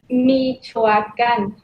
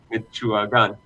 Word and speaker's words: Michoacán: Michoacán. How do you say it again? Yes. Michoacán. Michoacán.